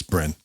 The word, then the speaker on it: Brenne: so this is it's bren i think i have no idea how you pronounce it b r e double n e i have researched that and yes you are correct it's bren bren french single malt